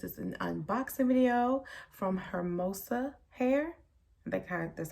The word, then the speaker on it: Hermosa: As you guys can see by the title, this is an unboxing video from Hermosa hair.